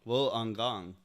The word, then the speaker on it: Wollongong: Chute to make sure it was deployed properly pronounced Wool Wool on gong will on gong thank you Nomad dad for keeping me straight